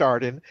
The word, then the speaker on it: AREDN: But it's my understanding there's a new group or another group called Arden. Do you know anything about these guys? Yes, it's AREDN, pronounced Arden, and they are actually